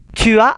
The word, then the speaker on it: tu as: Tu as un rendez-vous à quelle heure? Tu as, S-nya tidak dibaca.